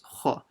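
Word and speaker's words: خ: Kha, yab, kha. Make sure you read the kha full mouth, not kha, it's kha.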